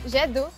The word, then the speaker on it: jet d'eau: It's the jet d'eau. The jet d'eau? Yeah. Did I pronounce that right? Yeah, jet d'eau.